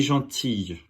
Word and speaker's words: gentille: Gentil, Notice the feminine form is I-L-L-E. Just like famille, there's a little bit of a Y sound at the end. So, il est gentil, elle est gentille.